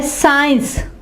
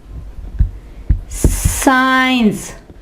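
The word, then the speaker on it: science: ये है साइंस, साइंस, ठीक है, साइंस। और इसके यहां पे देखें सी साइलेंट है, सेंट।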